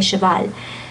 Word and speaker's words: cheval: And do say the ending L. I know that's not in the rules of pronunciation. I mean, well, it's an exception of the rules of pronunciation, right? Okay. Yeah, okay. But in this case, we do say cheval.